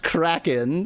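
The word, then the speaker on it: Crackin': It's pronounced Kraken, says Speclad in chat, spelling it C-R-A-C-K-I-N apostrophe.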